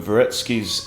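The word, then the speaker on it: Dvoretsky: lot of exercises from varetsky's end game manual the D is silent you don't have to pronounce the d okay now if takes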